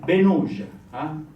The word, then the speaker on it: Benauge: So O, the AU is O, Benauge.